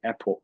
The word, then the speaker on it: epoch: Now, if we look at each of the epoch, I would say epoch, yeah, epoch is the good pronunciations of it.